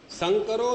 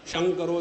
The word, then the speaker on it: संकरो: बार, और कौन से बंगालियों में स का श कहते हैं। प्रथम अध्याय में मंत्र आता है, संकरो नरकाय एव। जब संकर माने क्रॉस ब्रीडिंग हो जाता है, उसके द्वारा मनुष्य नरक को प्राप्त होता है। अब बंगाली उसका उच्चारण कैसा करेगा, शंकरो नरकाय एव।